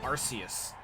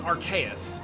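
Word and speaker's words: Arceus: that there's a debate over like Pokemon name pronunciations like I know so many people call it arus no it's archus because it's meant to be a combination of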